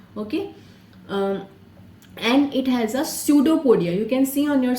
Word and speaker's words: pseudopodia: जैसे हम कहते हैं pseudopodia. Okay, P is silent in this. Okay, pseudopodia false legs उसके निकल